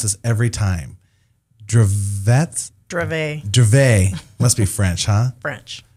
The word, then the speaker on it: Dravet: And I tell you, we are talking about, and I mispronounce this every time, Dravet.